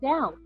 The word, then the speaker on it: Dão: see um and you you pronounce it like down up down um it's about 30